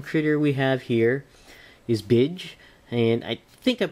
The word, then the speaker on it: B'Dg: Now the final lantern critter we have here is Bidge, and I think I'm pronouncing that correctly. I thought it was originally Bidge or Bidig, but I believe it's properly pronounced Bidge on here.